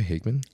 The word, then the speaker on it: Hageman: you say your last name by the way hman hman yeah yeah okay yeah all right well guys we have Higman the very highly accomplished ifbb Pro coach and